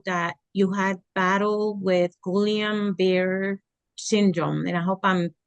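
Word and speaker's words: Guillain-Barré: you had battle with gulam bear syndrome and I hope I'm pronouncing it correctly it's a strange it's a strange uh word it's actually gon Beret syndrome or gon bar syndrome but you know what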